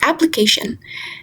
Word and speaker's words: application: we can see that before the syllable a there is this lower tick which means secondary stress falls on the syllable a and upper tick before the syllable k.